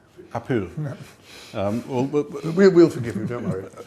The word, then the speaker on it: Powell: You should pronounce it the proper Welsh way. It's a Welsh name, which is Apul. Apul.